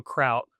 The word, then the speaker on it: Kraut: So break it in half. So kraut. So think German, sauerkraut, kraut. And then for the end, lager, like beer. So kraut lager.